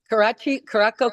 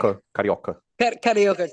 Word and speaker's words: Carioca: I ran into her show at the Caraco Club. Am I saying it right? Carioca Club.